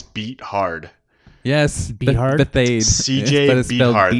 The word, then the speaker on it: Beathard: CJ Beat Hard. They pronounce it so funny. Bethard or something, but Beathard. it's Beat Hard.